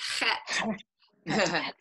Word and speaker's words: Het: You got to get the throat sound. Het.